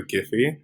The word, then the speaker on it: Giphy: pronunciation I think the they sort of settled on the hard G so the giphy as opposed to the jiffy um hilariously enough they